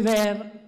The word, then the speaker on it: vair: la prima versione dovrebbe essere scritta vair che si legge ver lo vedete solo che